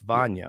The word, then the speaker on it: Vanja: Vanja. It's Vanya. Okay, Vanya Marinkovic.